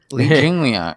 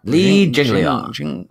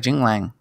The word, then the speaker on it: Li Jingliang: I'm like, what name are you trying to pronounce right now? Li Jingliang. Li Jingliang. Li Jingliang. So it's all one word. Jigliang. I thought it was like Jinglang.